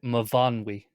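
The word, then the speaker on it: Myfanwy: That mean that pronunciation guide Mavanwi.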